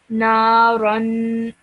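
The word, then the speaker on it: نَارًا: over here you said naran. Yeah? So the ra has a fathatain on top of it. So you produce that the neen sound and the gunna sound at the end as well.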